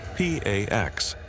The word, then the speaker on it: P4X: He adopts a pseudonym P4X, pronounced P A X, a cheeky nod to enforcing peace through punishment.